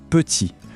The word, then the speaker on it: petit: Le mot petit, le t à la fin, on ne le prononce pas. Le mot beaucoup, le p final, pareil, muet.